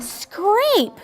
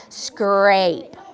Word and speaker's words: scrape: what word is that scrape P job it's got that magic silent e on the end that makes the a say its name let's repeat scrape okay and then look